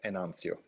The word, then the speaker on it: Enantio: you're right it's spelled enantio like we did z at the end instead of the t and that is the latin pronunciation and we are keeping